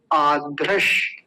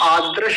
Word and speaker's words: आध्रश: कुछ लोग इसका गलत उच्चारण करते हैं, आद्रश बोलते हैं, आद्रश। देखिए मैं नीचे लिखता हूँ, ये गलत बोलते हैं, ऐसे आद्रश नहीं होता, आध्रश। ध यानी महाप्राण।